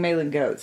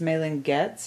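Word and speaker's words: Malin+Goetz: mayland gates maylyn getz i was saying mailing goats it's not mailing goats it's mailing gets or mailing gates anyways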